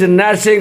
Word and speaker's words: gnashing: चलिए आज का सिक्स्थ वर्ड ये रहा, That is gnashing of teeth. Gnashing of teeth, GNASHING। देखिए यहाँ पे G साइलेंट है और AE जब मिलता है साथ में तो A होता है, तो क्या पढ़ेंगे नैश, और वो जो सिग्मा